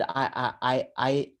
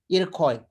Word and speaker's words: Iroquois: It is called Iroix. How do you pronounce? Iroquois.